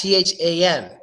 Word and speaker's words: than: Individually, it's pronounced than, but when we pronounce it in a sentence, it gets the A gets the schwa sound, which is a quick pronunciation of the vowel, and it becomes then.